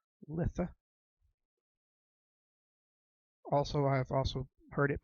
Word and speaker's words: Litha: 21st which is the summer solstice also called Litha also I've also heard it pronounced Lita this is when the the sun-god has reached